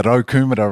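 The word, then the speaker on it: Raukumara: How do you pronounce that? Yeah, the Rokumura range.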